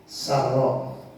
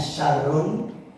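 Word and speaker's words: سَرَّاء: Jika dia mendapatkan kebahagiaan Sar kalau kita Sal bacanya syarrun pakai Sinin besar jadinya kejahatan ya Min Syar itu ya pakai Sinin besar ya Sar kebahagiaan kelapangan kegembiraan dan sejenisnya itu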